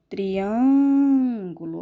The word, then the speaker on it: triângulo: seria um acento circunflexo triângulo olha só triângulo eu não abro muita minha boca é um som é fechado então assento que vai marcar a sílaba tônica é o acento circunflexo agora picolé olha só